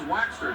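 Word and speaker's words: Waechter: He said it's Waxter, just like beeswax.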